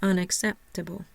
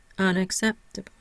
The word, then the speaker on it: unacceptable: one syllable unacceptable primary stress is on the third syllable sept I have no secondary stress I have awah over the second syllable I'm barely going to hear that and over the last two syllables so it will sound like unacceptable unacceptable let's look down at